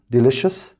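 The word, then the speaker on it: delicious: طيب لذيذ ده اسمه ديليشس تاني ديليشس تاني ديليشس خلي بالك السي اي او احنا اتفقنا بننطقها زي صوت الشهر فبتقول ديليشس وصف ده اسمه ديسكربشن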